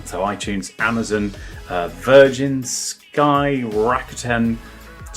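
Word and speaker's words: Rakuten: Um, and then so in the UK it's on so Apple, so iTunes, Amazon, uh, Virgin, Sky, Rakiten, that's how you say it.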